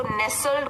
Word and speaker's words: nestled: अब यहाँ पे एक ध्यान देने की बात है, ये जो है स्पेलिंग NESTLED, लेकिन जब इसको नेसल्ड बोलेंगे तो टी साइलेंट हो जाएगा।